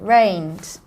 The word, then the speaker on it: rained: It's the soft D sound. Rained.